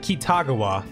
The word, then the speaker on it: Kitagawa: name is yusuke kitagawa yusuke see they pronounce it kitagawa but I would say kitagawa this is why ryuji